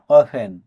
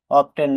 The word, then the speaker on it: often: OFTEN অফেন প্রায়শই বা প্রায়। এখানেও এফ এর পরে টি থাকার কারণে টি লেটারটি সাইলেন্ট আছে। এই শব্দটা আমরা অনেকেই ভুল করে অফটেন বলি, কিন্তু এটা ভুল। এটা আমাদের বলতে হবে অফেন।